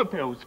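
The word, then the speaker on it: Anusol: I want a pills. Pills. Wrong, wrong, wrong. A pills, please. What? I don't know what you want me to say. Two syllables rhymes with Dalston.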